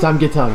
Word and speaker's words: 삼계탕: Did I pronounce that right? Samgyetang, yeah. There you go.